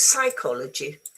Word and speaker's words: psychology: Yes, because it's psychology. So this one is not there because it's otherwise it's very difficult to say how can you say P it's very very it's not it's not an easy sound.